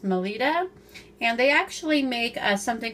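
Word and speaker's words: Melitta: Now these are made by, I believe it's pronounced Melita.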